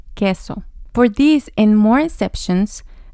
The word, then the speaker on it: queso: There's an exception here when we combine Q and U. So it sounds like the K and the next vowel is E queso.